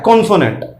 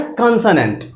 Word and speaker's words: consonant: कॉन्सोनेंट।